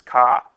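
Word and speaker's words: CAH: Okay, cosine is adjacent over hypotenuse, otherwise known as ka. Okay, you know, that's car if you're in Boston, but we pronounce it as ka.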